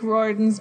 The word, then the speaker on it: Riordan: Rick Riordan's books, which are pretty apparently sure it's pronounced Riordan.